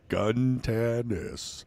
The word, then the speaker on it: Guntanis: You got to break it up into 3 syllables, like a kindergartner. Okay. Guntanis. Well, really, there's no better way to say it, unless you have like a Greek, roll to it.